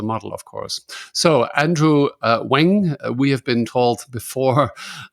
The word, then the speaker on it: Ng: so he suggested it's NG is pronounced Wang so he's the AI